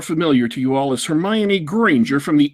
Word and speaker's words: Hermione: I myself pronounce it Hermione. I do not know how one pronounces it, but I pronounce it Hermione. Well, some people think it's Hermione. Some people are free to be as wrong as they wish.